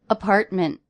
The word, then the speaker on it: apartment: up to my apartment apartment to stop tease so the tease in this word don't really follow the rules 40 pronunciations apartment apartment